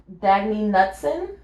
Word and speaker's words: Knutson: Swimmer Dagny Knutson. Unfortunate last name. That's not a great last name. And it's spelled with a K, like a silent K.